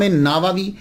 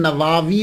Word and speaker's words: نووی: گئی کہ امام نووی، اس کو نووی بھی بول سکتے ہیں، اور اس کا تلفظ پروننسیشن نواوی بھی ہے، یعنی وا کو لمبا بھی کریں گے، نواوی بھی اور نواوی، یہ دونوں جو ہیں وہ پڑھے جا سکتے ہیں۔ محرم الحرم میں آپ